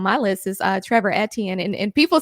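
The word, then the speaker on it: Etienne: list is uh Trevor etan and and people say stuff to me when I say his name like that but that is the correct pronunciation it is a French name yeah I don't know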